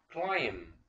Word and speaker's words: climb: climb climb. طبعا ال B silent، ال B ما بتنطقش.